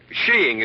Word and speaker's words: skiing: little what sheing oh there are other pronunciations I suppose but in England and Norway sheing is considered most acceptable under the proper conditions